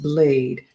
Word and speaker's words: Blyde: Blyde is pronounced Blade.